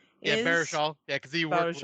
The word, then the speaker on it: Baruchel: Jay Baruchel Yeah, is Baruchel.